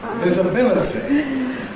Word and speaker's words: visibility: If we take the word at the bottom, Daniel Jones pronounced it something like this: ‘visibility’ /ˌvɪzɪˈbɪlɪtɪ/, /ˌvɪzɪˈbɪlɪtɪ/. ‘with great /ˌvɪzɪˈbɪlɪtɪ/’. I don’t say /ˌvɪzɪˈbɪlɪtɪ/, because I’m 100 years younger than Daniel Jones. I say /ˌvɪzəˈbɪləti/, /ˌvɪzəˈbɪləti/, and do you notice the different weakened vowels?